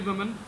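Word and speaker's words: women: The first is वुमन. वुमन मीन्स a single वुमन. अगर इसको हम प्लूरल करेंगे, ई की चेंजेस इसमें आ गई, तो फिर ये बनेगा विमेन. Government विमेंस college, not government वुमन college. Urdu में गलत लिखा जाता है, ये सही प्रोनाउंसिएशन नहीं है. सही प्रोनाउंसिएशन इसकी है गवर्नमेंट विमेन कॉलेज, और ये वर्ड है विमेन.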